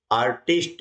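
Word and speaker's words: artist: इनको मिला देते हैं य बन जाता है आर्टिस्ट क्या बन जाएगा आर्टिस्ट यानी ए आर टी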